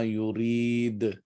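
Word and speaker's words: يريد: Walakin Allah yaf'alu ma yurid. So here, since you're stopping here, dal would be replaced. Dhamma would be replaced with a sukoon, which means you would pronounce with a little jerk.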